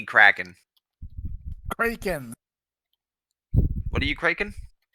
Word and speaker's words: Kraken: What are you kraken? That's how you pronounce it, Kraken.